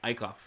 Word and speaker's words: Eichhoff: Eichhoff is how you say it.